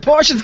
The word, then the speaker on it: Porsche: The Porsche's gone. Deal with it. I think you'll find it's pronounced Porsche.